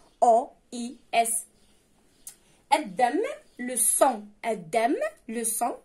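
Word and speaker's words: sang: الدم لو سون. الدم لو سون سهله حتى كيفاش كتكتب اس ا ان جي، فيها غير الجي اللي ما كتنطقش.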